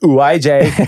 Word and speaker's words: Ouija: It's pronounced Ouija.